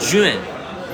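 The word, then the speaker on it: 券: are the Day coupons J J UA n Jun not spelled spelled the same way as the American word for Juan j UA n Jun is the word for coupons here in China jint okay J UA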